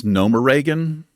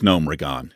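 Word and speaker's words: Gnomeregan: When somebody says Nomoregan, that should be prison time, in my opinion. It's Nomregan. It's not Nomoregan.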